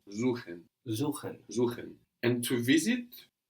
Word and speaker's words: suchen: So an S vowel syllable gives us a Z sound. Suchen.